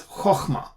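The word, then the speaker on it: חָכְמָה: But in any case, if this is a closed syllable and it's an unaccented syllable, meaning the accent is not there, the accent is on the other syllable in the open syllable. Okay, so we pronounce it as chokhmah.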